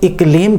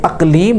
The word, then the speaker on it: اقلیم: فارسی زبان کے اندر اقلیم کہتے ہیں، لیکن لوگ غلطی سے الف کے اوپر زبر پڑھتے ہیں، اقلیم پڑھتے ہیں۔ یہ اقلیم لفظ غلط ہے، اصل لفظ ہے اقلیم۔ حضرت عمر کے زمانے